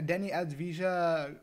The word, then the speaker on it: Deni Avdija: video we are going to be doing a denny as visa cavaliers rebuild i believe that's how you say